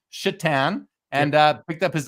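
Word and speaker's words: Šatan: one you remember Miroslav chatan Josh Satan of course yeah Satan this guy's last name is spelled s a t an yeah like Satan but it's pronounced chitan and uh picked up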